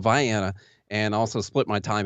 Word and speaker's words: Vienna: So basically the Kentucky part of Illinois, a little town called Vienna is how we pronounce it, not Vienna, like those crazies over there. It's called Vienna, and also split my time in another town called Pulaski.